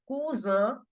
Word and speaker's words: cousin: nationalities now KU Kua s is between two vels so we have to make the sound of Zed kuza for cousin brother and